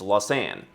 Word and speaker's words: Lausanne: la san and switzerland i so wanted to pronounce it with more of a french accent but they said no it's it's la san and like los angeles like la san and